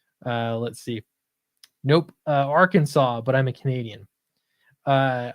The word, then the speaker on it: Arkansas: that just seems wrong nobody nobody in arkansas calls it our kansas right i've never heard anybody say that it blows my mind what about arkansas i don't know that's